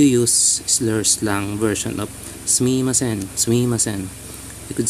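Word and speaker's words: すみません: You pronounce at the mi part, you make it very fast. Sumimasen.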